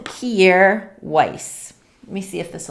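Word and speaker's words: Kjaer Weis: anything with their name on it it's called kiere weiss let me see if this will focus i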